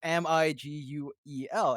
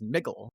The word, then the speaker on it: Miguel: any what Latino it spell mi gu e l and how do you say that Miguel yeah how is it spelled MiG GTL Miguel that's still Miguel to anyone who can speak Latino names pronounced Latino names with E no is sounding names you know it's yeah for me it was straightforward I was very confused as to why people would think it's niggle like who who in